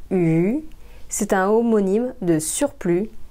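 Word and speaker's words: 鱼: Le mot poisson en chinois se prononce yu.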